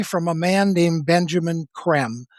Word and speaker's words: Creme: Primarily from a man named Benjamin Creme, spelled C-R-E-M-E. It looks like cream, but it's pronounced creme. It's like French, right?